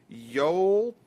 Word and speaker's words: Yolts: Well, one person out there, and his name is, it's very hard to pronounce. It's Yolts, YOLTS 01.